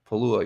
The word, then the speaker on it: Pegula: How do you pronounce that? Pegula, yeah, she's Pegula.